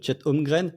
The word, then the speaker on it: Chet Holmgren: Si vous écoutez là l'auditeur qui dit que je prononce mal le nom de Chet Holmgren, c'est comme ça qu'on prononce.